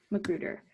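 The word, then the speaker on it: McGruder: How do you pronounce his last name? Magruder.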